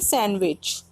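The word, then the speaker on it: sandwich: तो इसमें डी जो वर्ड है डी जो लेटर है वो साइलेंट हो रहा है। ऑप्शन सी डी इसका राइट आंसर हो रहा है, इसे बोलेंगे सैंडविच।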